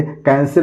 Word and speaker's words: cancel: इसको सेंसल नहीं पढ़ेंगे, सी के बाद ए आया है तो कोई भी अगर अल्फ़ाबेट आता है IEY के अलावा तो उसको हम क से प्रोनाउंस करेंगे। कैंसिल माने रद्द करना।